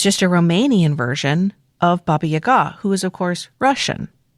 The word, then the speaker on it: Baba Yaga: correct way to pronounce Baba Yaga, Yaga, the emphasis goes on the second syllable.